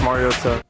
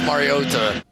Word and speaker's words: Mariota: Marcus Mario. He's saying it wrong. Yeah. What? Yeah, he got caught up in the air. He is saying it wrong. Marcus Mariota.